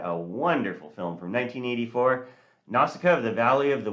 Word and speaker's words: Nausicaä: I've watched this several times in Japanese, so I'll call Nausicaa how she's pronounced in Japanese, Nausicaa.